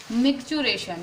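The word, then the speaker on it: micturition: तो फिर इसमें एक बहुत इंपॉर्टेंट टर्म यहाँ पे को आता है, मिक्चुरेशन या मक्चुरेशन इसे हम बोलते हैं।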